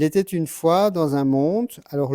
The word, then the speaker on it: monde: Il était une fois dans un monde, alors le E de monde, en fait, on ne le prononce pas.